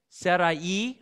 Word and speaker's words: Sarai: I'm not actually sure how to pronounce it with the I. Sariah or Sarai or something. Sarai.